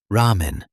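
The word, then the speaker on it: ラーメン: Japanese R is somewhere between an English R and L. For example, ramen, which in English means ramen.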